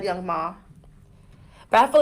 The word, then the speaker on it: Young M.A.: Why does everyone say her name wrong? It's M.A. Young M.A. I think she says it both ways.